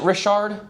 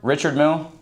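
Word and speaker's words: Richard Mille: Is it Rishard? Richard Mill. You just say Richard.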